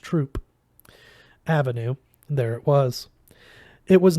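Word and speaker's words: Throop Avenue: and sure enough just pass through pronounced Troop Avenue there it was it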